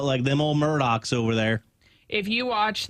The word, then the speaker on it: Murdaugh: Yeah, it's spelled like Alex, Alex, but it is pronounced Alec, and then their last name is pronounced or spelled phonetically Murdaugh, but they say Murdoch.